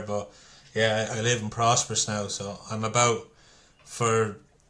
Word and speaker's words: Prosperous: How do you pronounce it? Oh, prosperous.